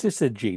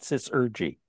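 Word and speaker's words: syzygy: There's no R in it. It's Sisergy, not Sisergy.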